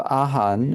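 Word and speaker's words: 阿含: So Ahan is the Chinese pronunciation of the Sanskrit word Agama.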